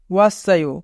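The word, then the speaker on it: 왔어요: ওয়াসায়ো, ওয়াসায়ো মানে এসেছি। এখানে বাচ্চিমের পরে ইয়ং থাকার কারণে বাচ্চিমটি ইয়ং এর স্থানে যাবে, তাই উচ্চারণ হবে ওয়াসায়ো।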